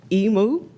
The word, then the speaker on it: Emu: We're joined today by Jennifer Emu. Rhymes with Nemo. So I'm sorry, it's Emo.